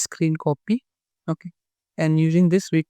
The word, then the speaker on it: Scrcpy: Here this is the GitHub page of this tool, and it is pronounced as screen copy.